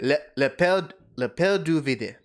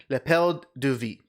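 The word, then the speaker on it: l'appel du vide: I said le pelle du vide. Lapel du vide. Yep, Actually, that no, one. they wouldn't pronounce the E. So, correction. Lapel du vide.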